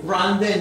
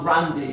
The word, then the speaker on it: Grande: Why is Grande not Grandi? Because why is it Versace not Versace, but Grande is Grande not Grandi? Yeah, why? Because America. Ariana Grande. Grande. Grande.